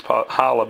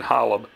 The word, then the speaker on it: Holub: I call it Hulb. I'm probably saying it wrong. It's Holub. I hear people saying Holub.